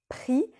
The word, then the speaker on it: pris: après le verbe donc tu prononces prix sans prononcer le s mais si tu utilises une